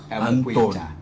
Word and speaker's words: Mukwita: I wanted to pronounce it in a London way. Not the Zambian way. It's going to be Mukwita.